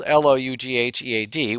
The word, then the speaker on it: Loughead: The names of those companies included Martin, Lockheed, spelled Loughead, which is really kind of a Scottish or a Scotch-Irish name.